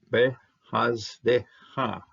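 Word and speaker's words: בְּחַסְדְּךָ: When you see double shavah, the first one's going to close the syllable here, haz, and de, you will pronounce the second one because this is a dalet, and well, it's a dalet with a dagish, and you're going to need something to start this syllable out, and you'll use the shavah to start out the syllable.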